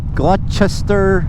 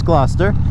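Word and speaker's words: Gloucester: And so we have towns that look like you know glut glutester or whatever and it's glouester.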